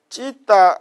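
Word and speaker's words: citta: 그래 보면은 그 찌따 마나스 어디 갑니까? 자, 그거 보세요. 찌따 찾았습니까? 그 여러분 책은 치따라 되어 있지만 그 원반은 찌따입니다.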